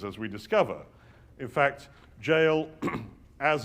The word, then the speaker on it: Jael: In fact, Jael, as its own name, probably almost certainly means mountain goat as a single syllable. But were it broken into two syllables, Ya'el, it is, of course, Yah or Yahweh is God.